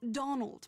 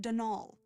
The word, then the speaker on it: Donal: Not Donald, mind you. There's no D at the end, so it's pronounced Denal.